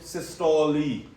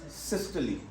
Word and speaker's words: systole: other terminology is diastole people pronounce it systoli systole diastole wrong pronunciation what is the correct pronunciation systole now remember one thing